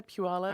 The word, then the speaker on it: Puyallup: there's a bunch of names around there that are interesting to pronounce. Mm-hmm. Well, it's kind of like Washington names. Yeah, Puyallup.